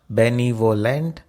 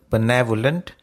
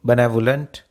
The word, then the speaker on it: benevolent: It is not benevolent. The stress is on the second syllable, benevolent. Go ahead and say it with me, benevolent.